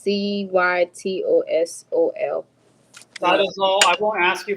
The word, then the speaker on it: cytosol: No, it's CYTOSOL.